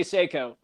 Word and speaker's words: Seiko: you pronounce that again I just say Seiko Seiko like the watch keep licking and takes